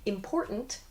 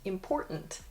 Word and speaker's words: important: Instead, we say, “impor’nt,” “wri’n,” “moun’n.” This has like an apostrophe sound, almost. So, “important,” “impor’nt,” we drop the “T” sound or it sounds very soft.